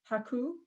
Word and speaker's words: HAKOO: us ben about and i'm saying it correctly haku yeah you say it perfectly uh can you